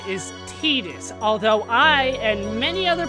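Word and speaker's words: Tidus: and they said his name and they said teetus so officially his name is titus although I and many other people for years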